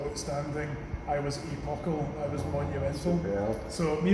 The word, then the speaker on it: Epochal: There's a few, I mean I don't like how people pronounce it. I say Epochal, but say what you like.